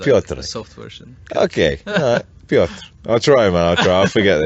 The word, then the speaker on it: Piotr: I'm here with Peter from Piotr. How do you say your name, man? How do you pronounce?